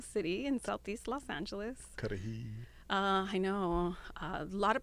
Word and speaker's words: Cudahy: Cudahy. I know. A lot of pronunciations, let me tell you. Every time we were on the news, it was Kuruhai.